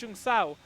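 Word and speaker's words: Junção: He just gets a bit of wheel spill out of Jung Sao, and very, very difficult.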